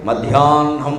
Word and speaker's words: మధ్యాహ్నం: పలకాలి అంటే కల్హారమున్ బ్రాహ్మణుడు మధ్యాహ్నం అనాలి మధ్యాహ్నం అని హ కింద నా వత్తు పెట్టినట్టు మాట్లాడు మాట్లాడకూడదు నా కింద హ ఒత్తు పెట్టినట్టు మాట్లాడాలి అలాగనే పూర్తిగా మధ్యాన్ హము అని రాసేయకూడదు విడిగా అటు ఇటు కాకుండా మాట్లాడాలి అది ప్రత్యేకమైన ఉచ్చారణ గురుముఖతః